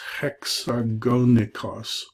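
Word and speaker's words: ἑξαγωνικός: This is nothing, but when it points the other way, they're saying add an H here. So this is hexagonikos.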